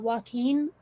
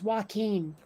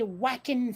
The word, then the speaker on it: Joaquin: okay then yeah and also the british cannot pronounce joaquin like you remember i was saying before how they tend to default to a for the letter a okay um hearing british people say whacking phoenix all the time and i'm like